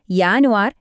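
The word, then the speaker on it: Januar: പ്രധാനപ്പെട്ട ഉച്ചാരണ കാര്യം ശ്രദ്ധിക്കണം ജർമനിയിൽ ജെ എന്ന അക്ഷരം കണ്ടാൽ നമ്മൾ മലയാളത്തിലെ യ എന്ന ശബ്ദമാണ് ഉപയോഗിക്കേണ്ടത് അതുകൊണ്ട് ജനുവരി എന്നത് യാനുവാർ എന്നും ജുലൈ എന്നത് യൂലി എന്നുമാണ് പറയേണ്ടത് ഇതൊന്ന് ശ്രദ്ധിച്ചാൽ മതി നിങ്ങളുടെ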